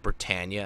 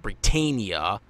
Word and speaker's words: Britannia: So, yeah, Britannia were being pieces of shit, basically. Also, I do want to note this, that I am glad that we are getting the correct pronunciation of Britannia and not Britannia, like the Funimation dub